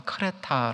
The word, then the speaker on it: 크레타: 돼 라는 섬이 줘 요즘 발음은 크레타 라는 섬인데 그리스에 제주도 다 이렇게 정리하시면